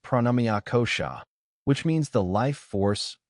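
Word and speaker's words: pranamaya kosha: Beyond the physical body exists a subtler layer known as pranamea kosha pronounced pranamia kosha which means the life force or energy body.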